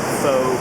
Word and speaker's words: faux: it has that like faux carbon fiber look oh yeah how's that spelled f a ux the x is silent oh